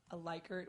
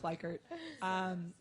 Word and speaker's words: Likert: then here's another where you can use a Likert which we found out is actually pronounced Likert scale we learned that this week which I'm still not comfortable saying so we're just gonna go with Likert so you can do the Likert scale so